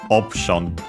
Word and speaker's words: オプション: We check the accent of these, and yeah, it's as expected on the O on the first syllable, just like in English, option. Again, the U is barely, of the P is barely heard if at all, considering that it's between voice consonants, so option.